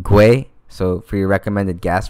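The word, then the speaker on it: gwei: gas amount and 60 I think it's pronounced gray so for your recommended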